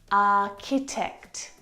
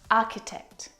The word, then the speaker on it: architect: The CH sound in this word is a K sound, like in cat. Architecture, architect, architect.